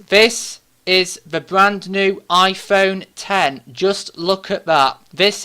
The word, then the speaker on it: iPhone X: for brand new smartphone the iPhone 10 which is spelt V iPhone X now they used X because the number 10 was in Roman numeral the letter x sv roman numeral for number 10 that's because this is